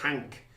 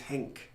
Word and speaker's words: Henk: I thought they'd mispronounced it. I thought it was Hank, but it was Henk.